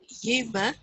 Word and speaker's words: Yume: This is Yume, Y-U-M-E, by Isabel Kramer.